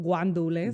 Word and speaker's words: guandules: Arroz con guandules. Guandules? Yeah. I didn't know that. I thought it was gandules, but that's because I grew It's up Puerto in, Rican.